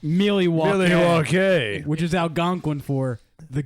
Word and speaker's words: Milwaukee: It's pronounced Milwaukee, Milwaukee.